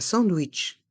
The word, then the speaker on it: sandwich: une tarte salée un sandwich un sandwich la première syllabe du mot sandwich Sand se prononce à la française Sand et le a